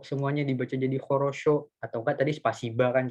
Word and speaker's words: хорошо: Nah, tadi tuh Ratu tuh nanya, ini хорошо kenapa O-nya bisa dibaca A, kenapa enggak O semuanya dibaca jadi хорошо, atau enggak tadi spasiba kan contohnya.